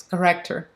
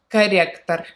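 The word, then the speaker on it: корректор: So it pronounces, it sounds like corrector, corrector. So Russian R's all hard, so you're gonna hear the hard R's everywhere.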